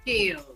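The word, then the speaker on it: Skales: help me with which one scals or scales scales scales so I was right the first time how was it working with scales cuz that's a big big step right there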